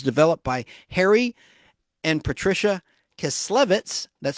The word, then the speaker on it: Kislevitz: The Colorforms concept was developed by Harry and Patricia Chiclets, that's spelled Kislevitz, back in 1951, firmly rooted in the modernist design ethos and reflecting the color-field abstract style prevalent at the time.